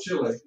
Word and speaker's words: Chile: Did everybody see there's a place down here called Chile? Chile is how you say it in Spanish.